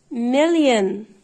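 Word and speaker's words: million: قو لي كده مليون لا لا خالص بقولها مليين مليين مليين اهي الاولى تنطق هنا عشان وراها ان مليين مليين يعني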